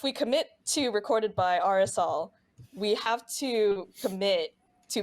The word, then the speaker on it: Arizal: I keep wanting to say Azrael instead of Arizal. that's so good. Like every time I'm like, nope, I'm saying it wrong.